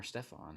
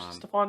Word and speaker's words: Stefon: Is it Stefon or Stefon? How do you pronounce it?